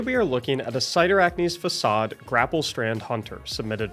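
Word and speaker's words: Cyrtarachne: this build is because we're going to use cider acne's facade which is how you pronounce it I promise whenever you grapple you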